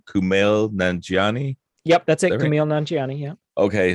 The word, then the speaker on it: Kumail Nanjiani: at and correct me if i'm saying his name wrong kumail nanjiani yep that's it yeah okay so i was